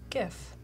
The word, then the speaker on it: GIF: G first for sure gif hard good French design innovation says guys believe sounds like goofy steve says the first word in the name is graphic so hard G gif well good I respect